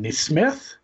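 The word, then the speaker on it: NeSmith: His Twitter handle is K-N-E-E Smith. I was so mad when I saw that it's literally in his Twitter handle. It is Neesmith.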